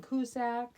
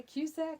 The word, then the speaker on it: Cusack: 1985, John Cusack. Is that how you pronounce that?